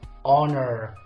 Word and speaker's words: honor: have done like this silent letter is age good so I say honor not honor okay now word number